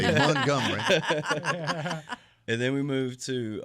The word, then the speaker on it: Montgomery: Montgomery, as the locals say. Montgomery.